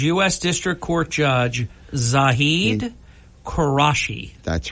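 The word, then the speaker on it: Quraishi: say is he's us District Court Judge zahed karashi that's right judge karashi okay and that is spelled qu r a i s h i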